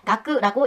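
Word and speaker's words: 学: 이 글자를 일본어로 읽을 때 오쿠리가나가 있을 때는 마나부라고 읽고 학생같이 다른 글자와 함께 쓰였을 때는 각세라고 해서 가쿠라고 읽힙니다. 자, 외우세요.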